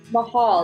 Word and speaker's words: Mahal: it going good okay so how do i pronounce your last name allison mahal like okay love it okay cool but it's